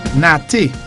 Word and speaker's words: nate: Nate. N-A-T-E, pronounced as A. Nate.